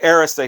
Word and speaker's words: Arista: It's not Arista, it's Arista, and I watched 3 different Clive Davis videos. He's the guy that runs the joint, so he would know. He's the one that started Arista Records, and he pronounces it Arista.